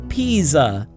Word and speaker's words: Pisa: the leaning tower of Pisa. Yeah, that is pronounced Pisa. It is Italian. So the S is pronounced like a Z and the I sounds like E.